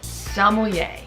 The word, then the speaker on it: sommelier: Just don't pronounce the R and you'll be way ahead of a lot of other people.